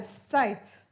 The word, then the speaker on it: sight: shower outside what a sight that was funny igh sounds like i and the letter t after it makes it ite sight we will look at